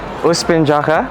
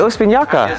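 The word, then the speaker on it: Uspinjača: So I will pronounce this as Uspinjaka, okay? Isn't the J a Y? Oh, is it Uspinjaka? And the C is like a CH.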